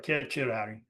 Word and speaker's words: certiorari: Well, I'm going to write a petition for writ of certiorari, or certiorari, as I would say. C's were always pronounced as K's. They were never pronounced as S's in Latin.